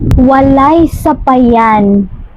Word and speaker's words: walay sapayan: But in Visayan, you will say walay sapayan. Wa lay sa pa yan.